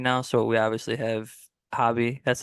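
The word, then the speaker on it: Hoby: the bullpen right now so we obviously have hobby that's how you pronounce it right I always feel like I mess it up Hobie Hobie Hobie okay good I know Jack's a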